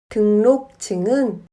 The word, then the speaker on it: 등록증: 등록증은 등록증으로 발음합니다.